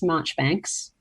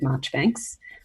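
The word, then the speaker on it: Marjoribanks: It's called Miss Marchbanks, but it's spelt Miss Marjorie Banks, but it's said Marchbanks, by Margaret Oliphant.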